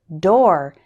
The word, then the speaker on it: door: there's one big exception the word door is pronounced like store and for door error